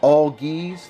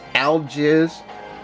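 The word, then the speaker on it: Algiz: we have auggies burkano and yes it is pronounced all geese the game's narrator just doesn't say it right it says alges and that's not how it's done you know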